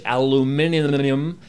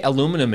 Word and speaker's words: aluminium: I can't even say aluminum anymore properly so many people from across the pond are like it's aluminium and it's not aluminum and all you Americans say aluminum yeah it is an